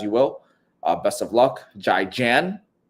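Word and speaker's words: 再见: Best of luck, Jai Jan. Zaijian.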